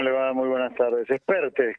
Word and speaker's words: Espert: Expertes, como si fuera acento en la segunda, Bien, es perfecto, catalán.